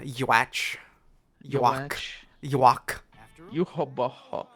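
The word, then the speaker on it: Yhwach: You think I thought it was Ewok. I'm only Ewok? playing. Ewok. Ewok. Nah, dude, you gotta pronounce the Yuach. Y. That's The all. Y is not silent.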